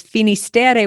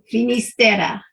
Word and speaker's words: Finisterre: starts with an F has a couple different names that it goes by. One is a Galician name, which is Fistera. And the other is the Spanish pronunciation, which is Finisterre, which means the end of the world.